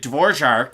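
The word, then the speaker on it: Dvořák: from North America his name's Christian Dvorak David dworshark is from chechia and they pronounce it over there that way so I'm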